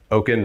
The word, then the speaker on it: Okyen: the future but um my last name Oaken rhymes with token so OK Source software